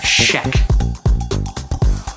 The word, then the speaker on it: Schaech: By the way, I finally looked it up, and the guy who played Mikey, his last name is pronounced Schaech.